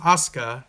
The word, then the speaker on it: Asuka: think she's from Japan her name is Aska it looks like Asuka the way you spell it but she went undefeated